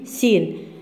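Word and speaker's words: scene: مفضل لك سين لاحظين هون السين هذه مش سكين سين السي هاي لا تلفظ اس اس سي سين سين هو مشهد او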